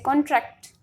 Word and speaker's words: contract: And if we will say contract, means we are giving stress on second syllable.